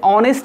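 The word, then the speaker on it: honest: लेकिन ये ऑनेस्ट है, यहाँ पर भी कॉन्सोनेंट से शुरू है बच्चों, लेकिन इसको दी पढ़ेंगे क्योंकि ये ऑनेस्ट का उच्चारण क्या होता है, एच साइलेंट रहता है, ठीक है ना।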